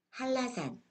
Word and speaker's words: 한라산: 니은이 리을의 앞이나 뒤에서 리을로 변했습니다. 다른 예를 볼게요. 여기 니은과 리을이 함께 사용된 단어들이 있는데요. 어떻게 발음되는지 같이 읽어보겠습니다. 편리, 편리해요. 연락, 연락하세요. 물냉면, 물냉면이 맛있어요. 한라산, 제주도 한라산이 아주 유명해요.